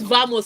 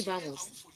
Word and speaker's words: vamos: when you see a V in Spanish, it's pronounced a B. So all these vamos people say it's actually vamos.